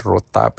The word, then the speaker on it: rotab: And rotab is spelled r o t a b.